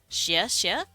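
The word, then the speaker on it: 谢谢: I think the word for thank you is xie xie. Xie xie. You go up, up, 2 different times.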